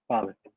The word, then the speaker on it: Pavic: Pavic. What is that? Pavic. Bhavik. Pavic. Pavic? Yeah, that's how you pronounce it.